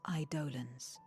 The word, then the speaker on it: eidolons: fearsome beings known as idolans idolans i don't enjoy that pronunciation i have said that word is eidolons since i was a child since it was in final fantasy nine ufo idolans why would